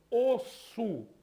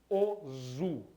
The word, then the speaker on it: osso: A mesma coisa acontece em osso. Tá certo? O osso, ele é grafado com dois S's, porque se tivesse apenas um S, seria pronunciado ozu.